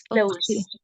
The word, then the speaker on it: closed: as the verb close it's not cloes it's closed okay Mrs Mrs Mills often